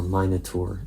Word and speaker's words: Minotaur: Minotaur or minur in British English pronunciation and the hands are